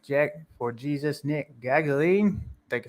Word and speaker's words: Gaglione: Gaglione.